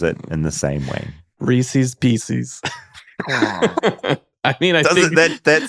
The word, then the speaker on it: Reese's Pieces: A lot of my friends make fun of me because I pronounce the candy like Reese's PCs.